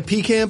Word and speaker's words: pecan: Pecan is how you say it. Have you heard it being said pecan? No, that's too elegant. Past the pecans? That's too I've heard it's being said pecan, but pecan doesn't sound right either, though.